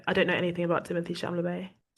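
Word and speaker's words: Timothée Chalamet: I don't know anything about Timothy Shamay. Shamalu. I don't even know how to say his name. Timothy Shalamé. It's actually Timote Shamalu.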